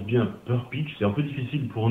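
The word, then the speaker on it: Prcić: Alors, la bonne prononciation de mon nom, c'est Persic.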